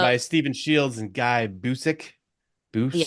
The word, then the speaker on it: Busick: Anyway, written um, by Stephen Shields and Guy Busick. yeah. Busick, yep.